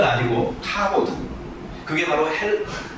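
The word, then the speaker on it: כָּבוֹד: 근데 똑같은 건 아니고 카보드. 그게 바로 그 히브리 말이에요. 히브리 말로 영광을 카보드라고 하고요. 네, 그리고 헬라 말로 영광을 진짜 독사라고 발음을 해요.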